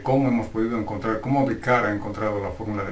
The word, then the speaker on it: Descartes: Por lo tanto, Descartes, René Descartes, algunos le dicen Descartes, pero está mal pronunciado, su nombre correcto es Descartes.